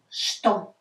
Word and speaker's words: что: So we don't pronounce it что. We pronounce it что. I will write you in English. Что. So sh, sh, these two. Что. Just remember this. Don't ask why. Just remember. Что. It's not что. It's spelled что, but pronounced что.